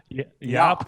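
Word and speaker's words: Jaap: give is it hop how do you pronounce J aap op yup cool eval cool he's a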